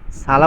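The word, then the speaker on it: الصلاة: হবে হাইয়া আলাস সালা সালা বললে হবে কেন সদ সদকে সদ যেহেতু ইস্তেলার হরফ সেটাকে একটু মোটা করে পড়তে হয় একটু ফুর করে পড়তে হয় শেষে হাইয়া হেওয়াজ অর্থাৎ বড় হা উচ্চারণ করতে হবে এখানে একটা জিনিস মনে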